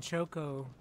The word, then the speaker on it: Chocobo: There is no A in choco. Cho. Not chocobos. Mispronunciation isn't cute.